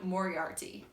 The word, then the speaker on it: Moriarty: Izzy Sweet and Sean Moriarty. I believe it's pronounced the same as the Sherlock Holmes villain.